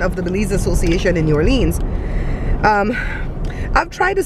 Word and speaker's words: New Orleans: I don't know why they call it Lins when it has E-A-N in it, like bean. It doesn't make sense. Americans say New Orleans. I said New Orleans. No, you don't. You just said that right now. Just New like Orleans. That.